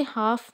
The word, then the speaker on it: half: इसी तरह से हाफ में एल साइलेंट होता है.